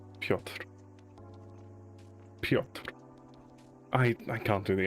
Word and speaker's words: Piotr: The Polish pronunciation is Piotr. Piotr. Piotr. Now in English, Piotr.